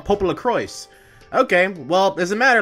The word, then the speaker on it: Popolocrois: me I guess I'm been saying it wrong Pop La cro okay well as a matter let's begin a